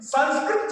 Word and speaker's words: संस्कृत: जैसे योग को योगा कहने लगे लोग, वेद को वेदा कहने लगे लोग, और संस्कृत जब संस्कृता हो जाएगा तब सब लोग समझेंगे संस्कृत से।